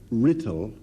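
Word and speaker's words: Writtle: It's a payment made by the manner of, I better spell it, W-R-I-T-T-E-L, got it? Rittle.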